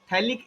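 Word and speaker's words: phthalic: थैलिक acid P silent Yes.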